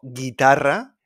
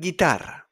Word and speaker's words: guitarra: So we got guitarra, guía turístico, we don't pronounce the U. And in GUE, like in hamburguesa, guerra, guerra, we don't pronounce the U. Hamburguesa and guitarra.